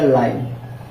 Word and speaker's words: line: इसको पढ़ेंगे न, ठीक, लेकिन इस ई का कोई उच्चारण, कोई साउंड नहीं होगा, क्योंकि हमने ये सीखा कि लास्ट में अगर ई आएगा टी का कोई उच्चारण नहीं होगा, ठीक है। तो अब ये क्या करेगा, ये अपनी मात्रा इसको देगा, हो जाएगा लाइन, ई हो जाएगा लाइन,